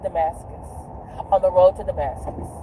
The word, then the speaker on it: Damascus: But since you want to listen to me and everything, it's pronounced Jezebel, it's pronounced Damascus.